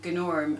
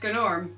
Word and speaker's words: Gnorm: was a Dino named goo norm and you had to pronounce the G because well if he's a gnome and he says it's pronounced good norm and you know then